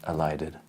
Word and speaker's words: elided: Because everything that ends in D, in the past tense, extra syllable, elide, elided. Okay?